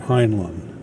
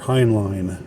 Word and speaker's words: Heinlein: a Strange Land by Robert Heinlein, or Heinlein. I'm just going to call him Heinlein here. I've heard it pronounced a bunch of different ways.